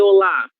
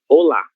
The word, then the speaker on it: olá: Por que olá? Porque essa sílaba aqui, ela está acentuada graficamente. Isso significa que esta é a sílaba mais forte dessa palavra. Então, olá, ok?